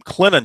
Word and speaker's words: Clinton: Clinton, just let it roll off your tongue. Clinton. It's like the word linen, but with a C in front of it. Correct. Clinton.